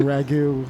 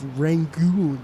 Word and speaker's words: rangoon: She kept saying ragu, and I was like, rangoon.